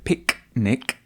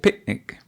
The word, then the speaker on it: picnic: You didn't hear her say picnic. She said picnic.